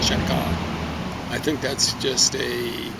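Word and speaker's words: Cheka: So or people might mispronounce it, but I think it's supposed to said chaka.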